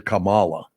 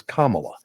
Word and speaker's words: Kamala: only man my age in America that can pronounce her name correctly because everybody calls her Camala and her name is Kamala Kamala sounds more right to me yes than